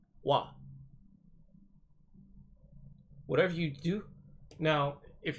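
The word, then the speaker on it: は: I stated earlier wha as far as particles go is pronounced wah whatever you do now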